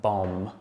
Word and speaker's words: bomb: And we've got words with a silent B. So they're words that things like bomb, or doubt, or debt, and lamb.